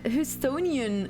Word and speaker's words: Houstonian: Always, but I am a Houstonian.